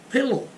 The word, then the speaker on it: pillow: Muito bem, mais uma palavra, pillow. Pillow é travesseiro, pillow, tem 2 L's. Então esse I não pode ter som de I, você não poderia falar pillow, entenderam?